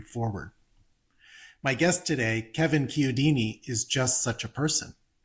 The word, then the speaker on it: Chiodini: My last name is pronounced Chiodini. Chiodini. So the Chiodini. CH is like a K sound.